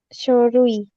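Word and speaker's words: 書類: Kalau misalkan kanji kaki Mas, kalau untuk Nah, yang di belakang itu dibaca sho. Tapi ah, sho jadi apa? Sho, Shorui. Shorui ya. Ini udah beda minasan. Kalau shurui artinya jenis. Kalau shorui itu artinya dokumen.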